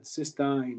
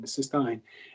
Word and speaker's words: cystine: would be considered cystine so this is the pronunciation here is cyst um you would say like Ein cystine cystine and then we're going to see cuis t